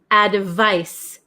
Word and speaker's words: advice: so number seven is advice advice advice it has a c and it's pronounced like SS sound ad ofice and then